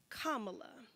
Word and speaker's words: Kamala: Afrocentric ethnic name myself say her name kamla Kamala but if you struggle with that Madam President